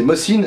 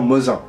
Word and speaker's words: Mosin: meilleure facture que celui-ci attention à prononcer mossine et non Mosin ce fusil est chambré